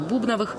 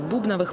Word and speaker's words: Бубновых: япония абхазия жизнетворчества сестер бубновых продлится до 31 мая кстати бубновыми сестер стали называть имена в абхазии народе так и осталось но это не правильно ударение в фамилии ставятся на первый слог надежда боровикова сосруко гуха